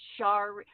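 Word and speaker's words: Sherri: Oh, star, like it rhymes with starry. It's Shari.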